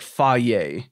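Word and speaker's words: Fage: right i think so it's spelled f-a-g-e but if i understand correctly it's pronounced something like fi yay right and they have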